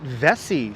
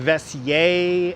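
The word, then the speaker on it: Vesey: used to live downtown they always called it vessie street but I've heard of vesser and I've even people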